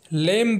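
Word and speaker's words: limb: है हमारा अगला एग्जांपल है लीम जिसका मतलब होता है अंगों को अलग करना या फिर अवयव इसमें भी बी साइलेंट होता है हमारा नेक्स्ट एग्जांपल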